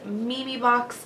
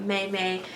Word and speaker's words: Memebox: reviewed these boxes before the company is called Mimi box yes it is pronounced Mimi not mayay it is Mimi box and they are a